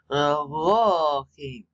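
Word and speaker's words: אלהים: But you pronounce this as if it were 3 syllables. Elohim.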